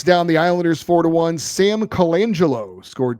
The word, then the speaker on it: Colangelo: I think you are mispronouncing his name. I believe it's Sam Golangelo.